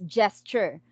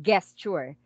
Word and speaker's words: gesture: the word itself it's gesture guys it's not gay okay a lot of students uh pronounce the word gesture as guest sure guys it's not ge it's j sounds j okay i hope i